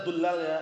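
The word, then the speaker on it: ضُلّال: Yaqulu ulama ad-dullal, bacanya dullal ya. Ad-dullal itu jamak dhal. Paham ya? Ad-dullal itu. Bukan dolal, kalau dolal itu sesat.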